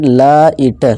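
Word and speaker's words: light: आवाज़ हमने निकाला भी, और GH क्या रहता है, साइलेंट रहता है, और हमने क्या लगा दिए, लाइट लाइट।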